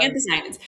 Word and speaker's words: anthocyanins: Um, anthocyanins.